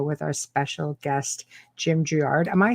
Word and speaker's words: Girouard: know oh okay in the french yeah it's pronounced it's it's actually gerard gerard oh can you right okay so i'm